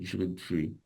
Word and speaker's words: jus de fruits: So les jus de fruits is just 3 syllables. Les jus de fruits. Fruits. Yeah. So what Ray's referring to there is he's perhaps he's just closing his mouth for as if he were going to pronounce the D, the de, but he doesn't really pronounce it.